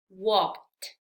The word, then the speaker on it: walked: Termina aquí walk en sonido k, que no tiene vibración. Entonces, al agregar ed, pronunciaremos walked, walked.